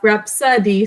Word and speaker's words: rhapsody: You have to underline RH, Good. and you had to underline the O on the second syllable. And we pronounce it rhapsody.